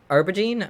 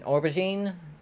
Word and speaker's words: aubergine: i figure everything that's called an arbor gene or no no why did i just say it wrong i've heard them say it a thousand times in rowley and luxery's video why can i not say it an aubergine whatever it is i think it's